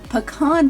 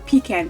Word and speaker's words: pecan: going to be adding a mini pecan pie, or pecan pie, depending on how you say it.